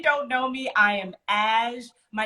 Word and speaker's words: HaJ: know me i am ash my name is spelled h.a.j so it looks like hajj but it's ash um that's right h is silent if you ever call